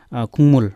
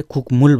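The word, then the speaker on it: 국물: अब तल हेरौँ, खुङमुल, खुङमुल भनेको झोल पदार्थ, यसलाई हामीले खुकमुल भनेनौँ, यसलाई हामीले खुङमुल भन्यौँ, ङ उच्चारण गऱ्यौँ गलाई।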